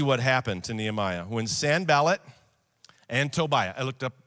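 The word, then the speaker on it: Sanballat: you to see what happened to nehemiah when san ballot and tobiah i looked up how to pronounce it that's how you say it when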